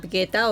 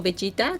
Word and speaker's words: Vegeta: Para mí, creo que mi personaje favorito de Dragon Ball sería Vegeta o Vegeta, como quieran pronunciarlo.